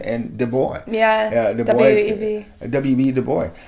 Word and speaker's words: Du Bois: Du Bois. Bois or Boy, however you want to say it. Du Bois. I don't know. I know the S is silent.